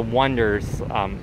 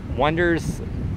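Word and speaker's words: Onederz: And then also want to go to the next cheapest hostel here is going to be one of the Wonders. Wonders is spelled O-N-E-D-E-R-Z.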